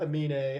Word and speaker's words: Aminé: is Caroline by Amina now you may notice that I called him Amina and yes that is actually the way his name is be is meant to be pronounced in interviews he's actually